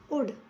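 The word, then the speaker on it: would: एल जो है silent उड उड मतलब चाहेंगे उड में भी ए साइलेंट रहेगा ठीक है बाय बाय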